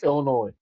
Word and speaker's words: Illinois: Illinois. The S is silent. Illinois.